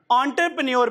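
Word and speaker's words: entrepreneur: अच्छा जी this is ओ और यहां से पी आर ई, ये खा जाना है, साइलेंट है ये, तो ऑन्टर कोई नहीं, आप गूगल ट्रांसलेट कर लीजिएगा, ठीक, एंटरप्रेन्योर पढ़ेंगे, ठीक है जी, एंटरप्रेन्योर पढ़ेंगे।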